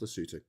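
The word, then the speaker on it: Lesotho: Uh let's go to Lutu. It's spelled Lasso, but it's pronounced Lutu.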